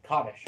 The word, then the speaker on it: Kaddish: Because I know like for instance like Kaddish.